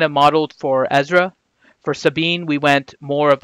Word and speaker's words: Sabine: It's Sabine Wren. So, Ranger, I know Sabine, not Sabine.